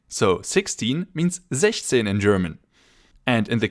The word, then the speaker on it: sechzehn: As you know, six in German means sechs, so the number should usually be sechszehn, but because that's difficult to pronounce, it has been modified to sechzehn. So, 16 means sechzehn in German.